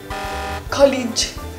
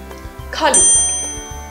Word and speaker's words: colleague: The ending sound in this word is pronounced as a g and not a j sound, like many students do. So, pay attention. We say colleague and not college.